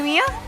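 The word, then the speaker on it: Miya: oh do you play Mia Maya I play zong so apparently we pronounce Mia Maya now yeah it's Maya apparently Maya and zong is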